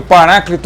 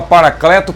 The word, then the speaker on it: paráclito: de paráclito Por quê Eu prefiro paráclito a paracleto por quê Por causa da sonoridade só por isso porque que é o primeiro termo que é paráclito que eu estou citando soa quase idêntico ao vocábulo original paráclito um proparoxítono cuja letra e na